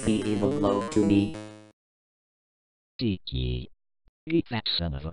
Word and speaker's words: DiC: My name is pronounced Deek.